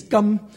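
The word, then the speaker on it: 柑: And besides, oranges in Cantonese, gum, sounds like the word gold.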